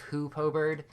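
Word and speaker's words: Hoopoe: who Poe Birds dude I can't believe how many times I mispronounced things I really said hope over the entire video instead of who po-bird it sounds better if you ask me but that's maybe just because I said it like 20 times in a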